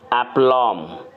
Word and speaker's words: aplomb: With एप्लॉम, यहाँ पे B silent है, विद एप्लॉम, जिसका मतलब होता है आत्मविश्वास और कुशलता के साथ।